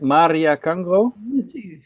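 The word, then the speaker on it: Maria Kangro: I said Maria Cangro. Yes, yeah.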